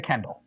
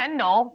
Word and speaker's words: Kindle: Get a Kindle. Today's a special attack of the show. It's a Kindle, not a Kendall.